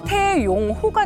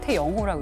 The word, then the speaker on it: 태영호: 그래서 우리가 맨 처음에 태용호가 된 거예요. 네. 태용호가 됐던 게 맞아. YONG를 써가지고 네. 그 네. 기자가 그걸 보고 태용호라고 쓴 거예요. 근데 우리는 그걸 용으로 읽는데 북한에서는 태영호라고 읽어요.